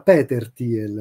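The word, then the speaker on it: Peter Thiel: correggerla Ma no bonariamente si pronuncia Peter tiel non Peter all'americana perché Peter tiel è nato in Germania è naturalizzato americano neozelandese c'ha due tre nazionalità ma è fondamentalmente tedesco ed è sempre stato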